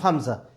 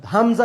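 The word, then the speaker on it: همزة: Hamza begins with a which is at the bottom of the throat and the way to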